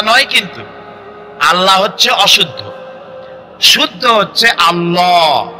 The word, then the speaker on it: আল্লাহ: বলেন তো আল্লাহ নয়। কিন্তু আল্লাহ হচ্ছে অশুদ্ধ।